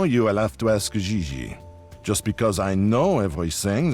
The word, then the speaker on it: Xi: No, I mean JJ. Xi. JJ F. You pronounce J like J and J like G. She may very well be JJ in America, but in France she is Xi.